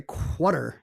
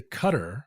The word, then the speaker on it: Qatar: for our future listeners this is another instance of a name that starts with q that does not have a u but notice we don't say quter we don't say quter we say cutter although no one says